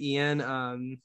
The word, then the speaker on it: Eion: Oh, I call my friend Ian. Something I've started calling him is Yoni. Why is that? Because his name is spelled weird. So his name is spelled EION.